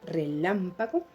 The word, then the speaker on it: relámpago: Pero si aplico la ley del acento final, voy a revisar la última palabra, relámpago, donde lleva la mayor fuerza de voz, lam, muy bien, y ocupa